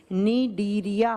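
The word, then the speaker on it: Cnidaria: दूसरा होता है निदेरिया सी से लिखा जाएगा प्रोनाउंस किया जाता है एन से निडिया फाइलम अब क्या होता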